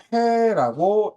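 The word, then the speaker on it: פא: 그래서 카프 윗니가 내려오는 걸 우리는 페라고 읽습니다. 그리고 페라고 하는 단어는 실제로 입을 뜻하는 히브리어 단어이기도 합니다. 그래서 이게 페라고 읽습니다.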